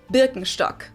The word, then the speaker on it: Birkenstock: So, English speakers usually say Birkenstock. In German, we say Birkenstock.